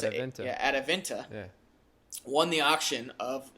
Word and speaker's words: Adevinta: And this company a Norwegian company called Adevinta, I think is how you pronounce it. Yeah, Adevinta.